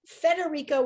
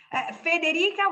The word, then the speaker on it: Federica: Federica without the R is Italian or maybe even Spanish. Frederica is more like Anglo-Saxon, like way to pronounce and to have like the name. I suppose that the name is from Denmark, I think comes from there. So it's Fre, but then in Italy it became Fe.